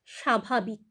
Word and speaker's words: স্বাভাবিক: আবার দেখো স্বাভাবিক স্বাভাবিক সেখানেও কিন্তু ব ফলা আমরা উচ্চারণ করি না আমরা বলি স্বাভাবিক সেখানেও কিন্তু আমরা তালব্য স এর উচ্চারণ করছি আবার দেখো তক তক